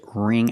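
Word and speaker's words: wring: remove the water pronunciation the W is silent so we use the r sound RR ring the ing makes the long e sound like green beans so together ring and the NG makes the nasal sound there's no G sound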